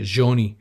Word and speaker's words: Jahmai: I literally asked him, how do you pronounce his name? He said Joni.